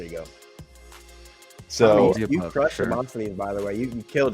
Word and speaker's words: Demosthenes: But not is it Stines? Stines? Stines. Demos. I'm so off. Demosthenes.